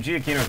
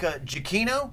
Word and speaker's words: Giacchino: Yeah, I think Giacchino. Giacchino. Cappuccino. Yeah, Cappuccino. Giacchino. We've all hit the hard C today.